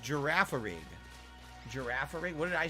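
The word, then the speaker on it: Girafarig: Undertaker how are you is pronounced giraffarig giraffe what did I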